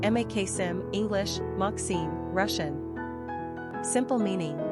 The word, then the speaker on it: Maxim: Quick facts on Maxim Gender, boy Origin, Russian Number of syllables, 2 Ranking popularity, 729 Pronunciation, Maksim (English, Maksim, Russian) Simple meaning, greatest Characteristics of